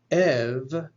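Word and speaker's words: ευ: either of or off epsilon epsilon will be pronounced either ev or f ev coming before a voiced consonant f coming before a voiceless consonant and then ita followed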